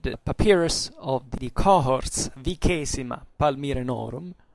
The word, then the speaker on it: Vicesima: And it's contained in the papyrus of the cohorts Vicesima Palmyrenorum. I will keep using the classical pronunciation as far as we know what it is. It would be Vicesima in ecclesiastical, but it means the 20th cohort of the Palmyrians.